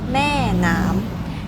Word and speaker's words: Maenam: In Thai, it's pronounced Maenam, and Ma means mother, Nam means water.